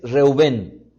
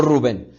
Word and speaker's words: Reuben: Tú eres mi primogénito porque la pronunciación del nombre es reuben no Rubén Rubén Rubén Tú eres